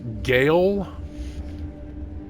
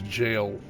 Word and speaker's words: gaol: like it' be pronounced gaale that's just the old English spelling of jail and that's how it's pronounced is jail G AOL L what's